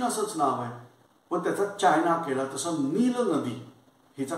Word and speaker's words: China: मी सांगितलं होतं, पण ब्रिटिश लोक लिहिताना कसं लिहितात बघा, की उदाहरणार्थ चीन हा शब्द ते CHINA लिहितात बरोबर आहे, पण त्याचा उच्चार करताना चायना करतात. डिरेक्टर का डायरेक्टर, इसाक न्यूटन का आयझॅक न्यूटन, स्पेलिंग बघा. मग लक्षात येतं की खूप वेळेला आय या लेटरचा उच्चार ते आय असाच करतात, जसं चायना.